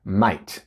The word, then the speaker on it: might: esta clase es may mike es m ht pero se pronuncia might si usan might para